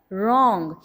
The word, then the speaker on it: wrong: Second blocks में अगर देखें wrist, wrath, wrong. In these words the silent letter is W.